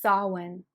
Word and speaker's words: Samhain: Okay, so I just looked up how to say it. It's Samhain. So I was saying it totally wrong.